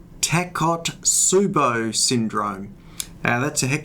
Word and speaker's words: Takotsubo: discuss a condition called tacot subo syndrome now that's a heck of a mouthful it's spelled t a k o taco t subo t Su u b o it's a Japanese word and I'll tell you